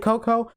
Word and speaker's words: Cocoa: i i pronounced it coco but i always thought it was like cocoa because that's how it's spelled but no it's pronounced